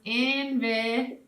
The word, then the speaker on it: invitation: Okay, so now when we see words like invite, we can turn this into a word with the T-I-O-N, the shun sound at the end, by dropping the E and putting an A, okay, to give it a syllable in between. So it becomes invitation. Okay?